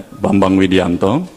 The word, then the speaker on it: Bambang Widianto: But so my name pronunciation is Bambang, yeah, Bambang Widianto.